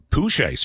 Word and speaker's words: Pooh Shiesty: Pooh Shiesty? Yes. Thank you for... Are you sure you're pronouncing it correct?